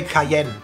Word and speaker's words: Cayenne: right yeah pepper yeah we say KN KN it's a little bit of a rougher German way of saying it Porsche Cayenne push it